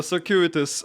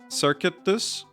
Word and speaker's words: circuitous: I I do I have heard before circuit like circuitus. No, it's circuitous. I think I don't think it's circuit. Like, it's circuitous, right? I'm pretty sure that's the correct pronunciation, but I could be wrong.